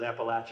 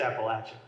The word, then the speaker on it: Appalachia: you're from in Appalachia, whether you pronounce it Appalachia or Appalachia. People print t-shirts about that, right? So down here it's Appalachia.